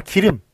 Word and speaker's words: 길음: 식으로 써주셔야 맞습니다 자 기름 기름 여기 있죠 기름력서 보면 어떻게 됩니까 요거는 이제 지명이네요 그러니까 고유명사니까 대문자로 써 주시고요 그 다음에 킬 음인데 요게 그 저 연철이 되죠 그 연음으로 발음이 됩니다 그래서이 우리가 제가 지금